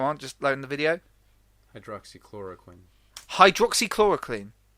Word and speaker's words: hydroxychloroquine: To further what you said, a lot of people are trying to push like hydrochloroquine.